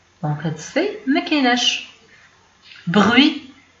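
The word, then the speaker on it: bruit: بغوي هو الضجيج، بغوي تي ما كتبانش ما كنطقوهاش.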